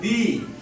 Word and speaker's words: the: এর উচ্চারণ একটা হচ্ছে দি, আরেকটা উচ্চারণ হচ্ছে দা, আরেকটা কি উচ্চারণ?